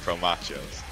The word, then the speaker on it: Pro Machos: Just imagine saying like nachos but promo at the start instead of nah. Okay, Pro Machos.